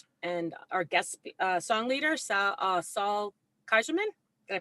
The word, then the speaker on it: Saul Kaiserman: Rabbi and our guest song leader, Saul Kaiserman. Did I pronounce it correctly?